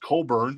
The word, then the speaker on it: Cockburn: the shrink with the hypee sticker pronounced curn oh sorry Bruce uh an excellent condition I'm not going to say anything this is $9 and uh yeah there's Bruce very nice Coburn and we've also got